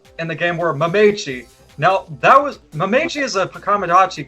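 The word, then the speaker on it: Mametchi: I need you to spell it out for me. M-A-M-E... Hold on one second. M-A-M-E... E-T-C-H-I. T-C-H-I? Yes. Mamechi.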